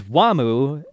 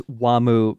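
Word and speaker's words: Wamuu: I'm also wondering if it's Wamu because if you just say Wham in Japanese, they don't have an they have like a they have a mu, so Wamu, okay. Just the Japanese pronunciation just of Wham.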